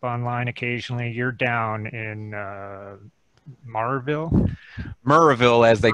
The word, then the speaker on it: Maryville: You're down in Murrayville, as they call it down here. Yeah, today. You know, we're new to the Tennessee. The human race calls it Maryville, M-A-R, but yeah, it's Murrayville.